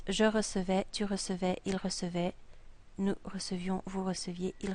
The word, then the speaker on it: recevait: So it becomes je recevais, tu recevais, il recevait, nous recevions, vous receviez, il recevait. This word, and this word are all pronounced the same. Recevait.